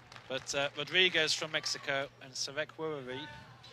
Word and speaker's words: Sawekwharee: But Rodrigues from Mexico and Sawekwharee. It's hard to say that with a H in the middle, isn't it? It's yeah, it is. Wharee. There you go. It's like a silent H almost.